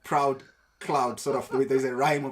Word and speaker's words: Proud: and somehow your names your name seems to rhyme with um the cloud like proud Cloud sort of the